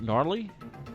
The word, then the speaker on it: gnarly: a uh uh harley gnarly it's oh no no a gnarly run i gotta do that that's about it uh the g is silent yes so that's all